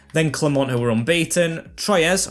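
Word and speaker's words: Troyes: clermont who were unbeaten troyez or trio i think it's pronounced then a team that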